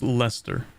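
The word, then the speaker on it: Leicester: difference is literally just Lester that's how that's pronounced right any Brits in chat that's got to be Lester it's never pronounced the way it's spell 37 development it's Lester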